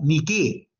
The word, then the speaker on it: Nike: La diosa de la victoria ni qué, ¿no? Ustedes sabrán que la marca Nike de zapatillas es el ala de la diosa que se escribe niqué.